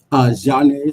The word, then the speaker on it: Zhane: Zhane, so Zhane. So a quick and easy way to remember that is the R&B soul group from the 90s. Zane.